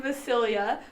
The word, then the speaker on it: Vasilija: But J in Serbia is pronounced as Y, so it's a Y sound.